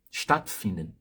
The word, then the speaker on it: Stattfinden: Dois T's, consoante dupla. Então, a vogal alemã, antes de uma consoante dupla, ela é aberta, então soa aberta, e curta. Você não vai prolongar muito essa vogal na hora de falar. Então, não vai falar statt, statt, para não confundir com outras palavras. Então, esse A aqui é curto.